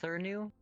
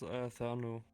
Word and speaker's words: Thernu: Is your name pronounced Thurnu? It's Thernu. Well, I pronounce it Thernu.